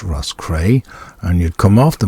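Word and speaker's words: Roscrea: would get it to Russ cray R oos c r e a is pronounced Russ cray and you'd come off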